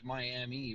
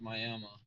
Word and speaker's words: Miami: town name on I-44 it looks like Miami but it's pronounced Miami and that blew my mind